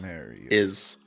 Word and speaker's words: Marius: Marius Marius is the way phonetically, but he has an accent.